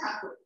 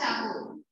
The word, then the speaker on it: Thakur: So Britishers pronounced Thakur as Tagore, and so it became Thakur. It's like Mumbai became Bombay. So Britishers pronounced Mumbai as Bombay, and it became Bombay. So real name of the word, it's Thakur. Thakur.